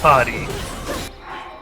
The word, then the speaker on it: Potty: You pronounce my name wrong, but it all right. My name is Potty.